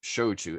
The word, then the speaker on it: shochu: not Soju all right Japan makes shoju s-h-o-c-h-u just pronounce it like those two verbs s-h-o-w and c-h-e-w and you're 99 of the way there um but that's that's